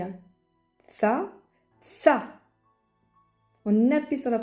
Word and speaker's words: ث: Il y a tha, tha. On appuie sur la prononciation.